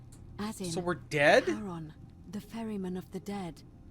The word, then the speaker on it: Charon: It's just as you described it, only your pronunciation is a little off. The name you heard wasn't Karen. It was C-H-A-R-O-N, as in... So we're dead? Charon, the ferryman of the dead.